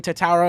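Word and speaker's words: Tetairoa: McMillan Tatara, if you want me to say it properly, out of Arizona, wide receiver.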